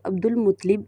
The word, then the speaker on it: عبدالمطلب: ہاشم یا شیبۃ الحمد۔ ان کو عبدالمطلب درست تلفظ عبدالمطلب اس لیے کہا جاتا